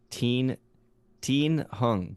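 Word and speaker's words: Thien Huong: It's pronounced Teen Hung, so spelled ThienHuong.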